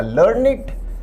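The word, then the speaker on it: learned: विद्यार्थी ध्यान दें यहां इस शब्द का उच्चारण होगा लर्निड।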